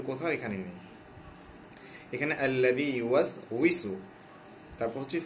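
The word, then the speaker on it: يُوَسْوِسُ: কোথাও লেখা আছে আল্লাযী ইউওয়াসবিসু বা কোথাও লেখা আছে আল্লাযী ইউওয়াসইসু। ওয়াওর নিচে যখন জের হয় সেটা কখনো বা মানে বায়ের মতো হয় না, কখনো হামজা কিংবা আলিফের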